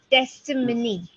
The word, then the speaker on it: testimony: it's easier to practice testimony testimony testimony not Monique money and uh patience there